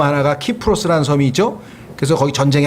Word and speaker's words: 키프로스: 라틴어에서는 K로 발음이 되고 영어로 가면 이게 S자로 발음이 돼서 그래요. 여러분들 그 그리스 앞에 터키와 이 중간에 있는 섬 하나가 키프로스라는 섬이 있죠. 그래서 거기 전쟁이 항상 일어난단 말이에요. 근데 영어로는 그게 사이프러스가 되는 거예요. 사이프러스.